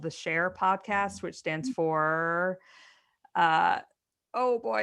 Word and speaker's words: Shair: There's one called the Share Podcast, which stands for oh boy.